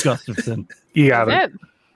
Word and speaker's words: Gustafsson: It's Gustafsson.